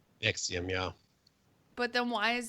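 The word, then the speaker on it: NXIVM: It's pronounced Nexium. Nexium.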